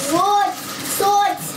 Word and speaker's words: sword: Swords. Yeah. Sword. That's how it's. Do you understand how it's spelled? Sword, yeah. But you say it like sword.